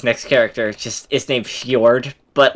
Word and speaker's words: Fjord: Fjord.